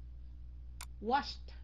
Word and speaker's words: washed: Thành ra khi mà cái động từ cuối cùng bằng những cái chữ đầu của câu này thì nó sẽ phát âm thành chữ T. Ok. Washed.